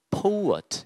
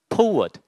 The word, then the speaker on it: poet: 오우엇, poet 이런 식으로 발음을 해주시면 좋겠습니다. 한번 해볼까요? poet.